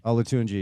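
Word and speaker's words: Olatunji: But this but this but this new guy apparently who I think you pronounced his name last week correctly. Victor Alatunji. Alatuni.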